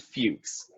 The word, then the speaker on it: Fux: Due to unpopular belief, we pronounce it Fuchs.